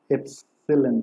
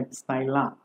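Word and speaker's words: Epsilon: Following particulars were extracted from the records of एप्सिलॉन limited. Actually इसको pronounce करते हैं एप्साइला, एप्साइला।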